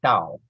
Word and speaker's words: Dao: But the actual Chinese word is Dao, which means path or way. So the modern version is probably phonetically closer to the Chinese way of speaking.